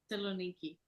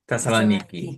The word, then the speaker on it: Thessaloniki: Thessaloniki. Thessaloniki.